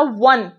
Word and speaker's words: one: क्योंकि बच्चों मैंने जब बोला वन, वन, क्या बोला? वन, वन बोला, व, यहाँ पे व जो है वो निकल कर आ रहा है, ओ कहाँ निकला?